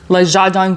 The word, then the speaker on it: Le Jardin: I again made sure I got the pronunciation correct. Goyar. Leadang Goyar.